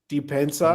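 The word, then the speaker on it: Dybantsa: I actually covered AJ, how do you pronounce it? The BYU player. Depensa.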